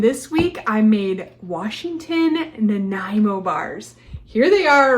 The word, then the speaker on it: Nanaimo: test them how do you say it again Nimo it's a city in Canada so yes this